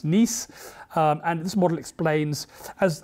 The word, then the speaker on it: Nice: after the city in france written nice but pronounced nice and this model explains as as the resonance